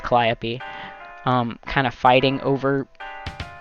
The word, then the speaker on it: Calliope: be a dirk and i i say calio but i know it's pronounced calliope um kind of fighting over the narrative it